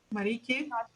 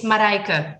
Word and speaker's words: Marijke: Marike. Marike. Marik. Headset doesn't, if I use my headset, you can't hear me. It's Marijke. The J is silent.